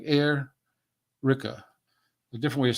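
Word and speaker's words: Airica: sorry L'Oreal l-a-u-r-e-l and her last name is Erica but it's spelled a-i-r-i-c-a like air Rika a different way of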